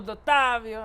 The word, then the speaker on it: Dottovio: We're here joined by Dottavio.